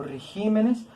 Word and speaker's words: regímenes: la están volviendo esdrújula que sucede con palabras esdrújulas como es pésimo régimen es una palabra esdrújula espécimen régimen también es una palabra esdrújula última penúltima del t penúltima sílaba si decimos este jiménez o regímenes le aumentamos en el silo y qué es lo que sucede que no la volvimos sobre brújula le tenemos que quitar el acento hoja y aquí en